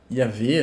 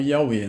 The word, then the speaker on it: Yahweh: Defendia a pronúncia, né? Yahvé, né? Ou Yahweh, né? Depende de como você pronuncia.